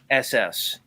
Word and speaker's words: Hass: No, it's spelled Hass.